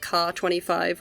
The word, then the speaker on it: Kh-25: And yes, while I am aware that Ka-25 would technically be the correct pronunciation in English-speaking circles, KH-25 is more recognizable, and I don't want to create any confusion when talking about these missiles, and so I'll be using the technically somewhat incorrect designation because it's just